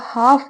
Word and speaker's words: half: मतलब के साथ, द हाफ बॉडी, हाफ क्या होता है, आधा, किसी भी चीज का हाफ मतलब आधा, इसमें एल जो होता है वो साइलेंट होता है, तो HALF, हाफ बना, ठीक है ना।